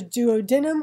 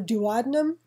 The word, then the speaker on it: duodenum: The first section that receives the food from the pyloric sphincter is the duodenum or duodenum, depending on how you like to pronounce it.